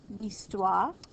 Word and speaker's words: histoire: Je préfère l'histoire, history. This H is silent.